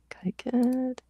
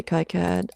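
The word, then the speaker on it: KiCad: Uh, Kyad. In this house, we say Kaiad. I don't have opinions about it. I'm just like, it rhymes with iPad.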